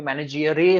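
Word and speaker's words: maneggiare: उनका प्रोनाउंसिएशन थोड़ा सा डिफरेंट होता है, इसलिए मैनेजियरे होता है, जिसका मतलब होता है टू हैंडल स्पेशल टूल.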